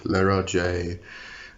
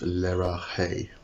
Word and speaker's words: Leraje: pronunciations to this one Lara J um I think some people will even put a bit of a French inflection into it and make it Le Raj um as far as